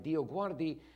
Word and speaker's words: DioGuardi: So I told people, if you pronounce my name right, DioGuardi, you're saying a prayer and you don't even know it.